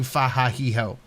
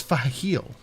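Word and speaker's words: Fahaheel: She is saying Fahahiho. It's Fahil. It's right there.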